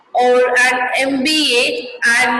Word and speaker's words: MBA: We say MP or an MBA and not a MP or a MBA, because M is pronounced as a EM, which is a vowel sound.